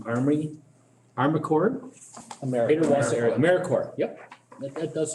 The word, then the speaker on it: AmeriCorps: all is familiar with americorps in this group well i couldn't pronounce it so core like marine marine corps and peace corps what we are is